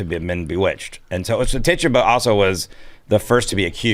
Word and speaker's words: Tituba: Tituba.